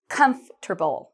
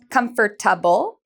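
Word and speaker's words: comfortable: Vì vậy, chúng tôi không phát âm "com-cho-ta-ble", mm-mm, chúng ta nói: "comfterble".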